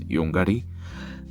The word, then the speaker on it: Yonggary: collection, also known as Yunguri. And to tell you the exact and correct pronunciation, it's Yongari. Uh I know this because I'm South Korean.